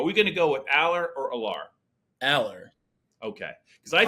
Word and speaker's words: Allar: It's Allar. We got in trouble with WVU and WVU, so I'm going to do what you say right now. Are we going to go with Allar or Allar?